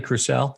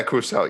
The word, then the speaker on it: Crucell: some folks from uh crusell which uh am i pronouncing that correctly crucelle yeah crucial yes yeah yeah which is which